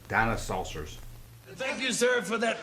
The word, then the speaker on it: Dinosaucers: soon now how many would tell me is pronounced dino saucers thank you sir for that unsolicited testimony